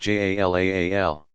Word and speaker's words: Jalal: God's names include about equally those that suggest divine power and majesty, Jalal, pronounced Jalaal, and those that speak of his beauty and infinite attractiveness, Jamal, pronounced Jamal.